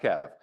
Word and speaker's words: KEV: today we're going to talk about uh the Kev which stands for the Canon exploited vulnerabilities list um and it's pronounced Kev uh we're going to go real quick over